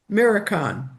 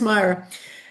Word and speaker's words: Myra: And say mirror, mirror. And it's like, no, it's Myra.